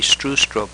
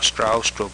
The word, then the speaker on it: Stroustrup: my name is B native English speakers usually get B right but I often have to say strw strob or stra strob to be understood the proper Danish pronunciation